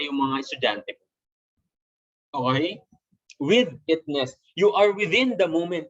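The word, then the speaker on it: withitness: With itness, okay? Ang pronunciation nito is with itness.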